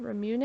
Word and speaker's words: ramune: complicated she wanted her character in a Ramonet ramune a brim unites me I was looking at how to pronounce it ramune okay she she want